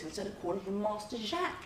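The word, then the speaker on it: Jaques: pronouncing my character's name now I've been calling him jack right but there are also a few other pronunciations Jacquees and Jake's now Jake's in particular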